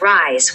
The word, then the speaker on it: rise: The correct pronunciation is rise with a Z sound.